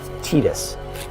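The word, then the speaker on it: Tidus: I genuinely hate to be the one to break this to you, but that is how it's officially pronounced. Again, Tetus. Okay, Tetus.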